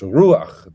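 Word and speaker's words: רוח: So it's ruach. The accent is on the U, and it's just a short A, and the A is written to the right of the chet, not straight underneath it.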